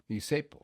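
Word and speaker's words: zeppole: for that is isepo, Isepo. or it's spelled like Zeppoli, but it was pronounced isepo.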